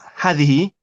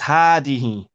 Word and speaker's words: هذه: Hadihi is another example where we pronounce the alif and we do not write it. So it's not hadihi, it's hadihi.